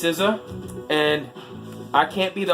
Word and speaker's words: SZA: Alright, if you guys don't know, it's pronounced SZA.